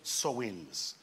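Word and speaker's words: Samhain: were called the Sam it is spelled Sam H which is s a m h a i n but it's called sewings these are the people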